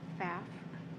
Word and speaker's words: Pfaff: Pfaff. Pfaff? Paff.